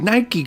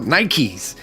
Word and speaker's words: Nike: my first pair of Nike shoes I pronounced it with one syllable not two and I made it a plural Nikes but even in the